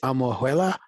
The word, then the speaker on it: Almojuela: Is it Almojuela? Am I pronouncing it correctly? Yeah, that's great. Perfect.